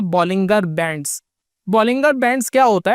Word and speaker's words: Bollinger: काफी लोग इसको बॉलिंजर बैंड बोलते हैं, लेकिन जो राइट प्रोनाउंसिएशन है इसकी वो है बॉलिंगर बैंड्स।